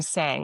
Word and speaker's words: Sang: I used to say, "Hi, I'm Sang." Like you sang a song. And I still occasionally will use it if someone really struggles to understand how to say my name. Um, but I realized over the years like I was just trying to cater to everybody else to make my name less foreign by making it